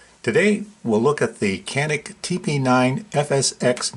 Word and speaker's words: CANiK: another tabletop review today we'll look at the canik tp9 fsx 9 millimeter match pistol i'm told that it's pronounced januk the website states that the tp9 fsx is